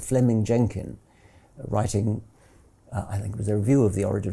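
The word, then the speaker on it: Fleeming: was simply it's written in fleaming which is pronounced Fleming Fleming Jenkin was simply saying manifest facts are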